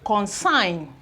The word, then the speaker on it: consign: There is no any form of G sound in the pronunciation. Align, assign, okay. We have consign, consignment, consign.